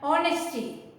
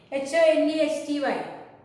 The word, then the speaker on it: honesty: Honesty. Honesty. Don't say honesty. H is silent there.